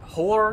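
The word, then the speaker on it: Hoor: Hor, I think? H-O-O-R, by the way. Hor, I know how to pronounce it.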